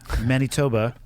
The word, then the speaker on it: Manitoba: And I know you started your life in the plains of Manitoba. That's how I say it. That's the exact correct pronunciation.